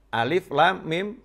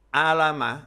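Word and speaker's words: الم: tulisan Arab atau Alquran kita akan membacanya yang pertama Alama atau A5 yang kedua alamnasroh tidak akan kita baca yang pertama alif.lam.mim dan tidak akan kita baca yang kedua alif.lam.mim Nasroh nggak akan tapi kita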